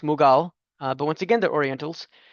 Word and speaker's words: Mughal: In India, it's pronounced Mughal, but once again, they're Orientals.